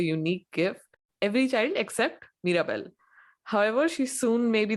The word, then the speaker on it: Mirabel: joke I don't know they named Mirabel which rhymes with Miracle yeah I think it's